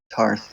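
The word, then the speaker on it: Ptarth: Patarth. Oh, I think it's. I've heard it pronounced Tar. Tarth. Okay. Yeah, the P is silent.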